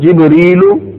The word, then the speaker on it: جبرائیل: فرشتوں کے نام جبرائیل، میکائیل. اس کا تلفظ جبریل و میکالو بھی ہے، یہ عبرانی اور عربی زبان کے تلفظ، عربی زبان میں دونوں